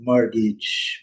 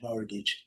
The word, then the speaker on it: mortgage: lembrar, é mortgage, é no inglês britânico, não pronunciamos o R, né? Tá antes do T aqui. Então, morgate e morgage mal prolongado, né? E no inglês britânico, mortgage, mortgage a com.